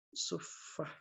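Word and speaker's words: صفة: itu ada Istilahnya ahlussufah ahlu suffah ya bacanya suffah nah ahlussufah Apa itu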